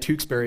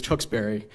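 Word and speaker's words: Tewksbury: Massachusetts the way that tberry is spelled today tend uh tend to say it the way that I just said it and screwed it up uh usually it's tubry and uh often I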